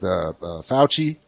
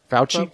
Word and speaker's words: Fauci: That's the only thing I truly appreciate about those conferences with Fauci.